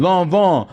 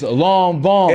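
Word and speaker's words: Lanvin: you how do you know how do you pronounce it long long Von long Von so it's not l no no it's long Von and it's not L okay long long I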